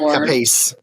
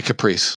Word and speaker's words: Capice: I've heard somebody actually say his name is pronounced Capiche. Capiche? It might. But we say Caprice. It might. I say Caprice. I've never said Caprice. I've never said Caprice. There's no R, is there? So Capice. Yeah.